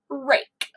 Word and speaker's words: rake: This is a silent E rule. The E is going to reach over that blank spot, there'll be a letter there, and touch the A and say its name. So down here we see it is rake. All right, so rake is a long A sound.